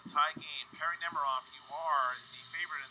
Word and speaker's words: Nemiroff: All right, back to Perri Nemiroff now.